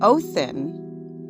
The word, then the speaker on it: Othin: However, there are a few ways to pronounce his name: Woden, Odin, Othin, and sometimes Wotan.